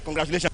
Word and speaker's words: congratulations: Congratulations. Okay. You will not get the answer. Con, gra, to. Le. That le is the answer because on it you put the stress.